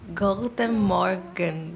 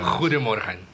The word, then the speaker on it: Goedemorgen: É só a parte da pronúncia, que o G aqui é um R. É o Goedemorgen.